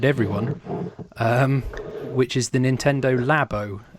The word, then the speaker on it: Labo: which is the Nintendo lab Oh which I'm assuming it's lab Oh rather than labor oh goodness yeah Oh already